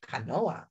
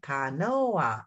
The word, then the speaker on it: canoa: Canoa. How many syllables? Put your hand under your chin. Canoa. Oh, in Spanish, it has three syllables.